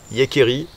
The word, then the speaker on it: Jääkäri: bivouac, c'est le Sabota Yekeri de taille S. Taille S, c'est le plus petit Yekeri, le plus petit sac de la famille Yekeri. Ça s'écrit Jacari avec un tréma sur tous les A.